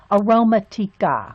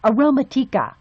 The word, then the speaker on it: Aromatica: It's aroma. It's not romantic. It's aroma. Aromatica. Aromatica. I'm gonna have to say it like that.